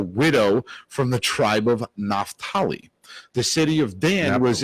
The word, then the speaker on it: Naphtali: How do you pronounce it in ritual? We say Naphtali.